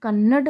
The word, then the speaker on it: कन्नड़: हो जाएगा जो कि हमारा क्या है अशुद्ध कन्नड हमारा क्या है ये अशुद्ध रूप है तो